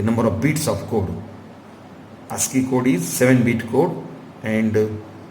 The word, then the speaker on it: ASCII: The ASCII, ASCII, pronounced as ASCII, it is most widely used code for data communication.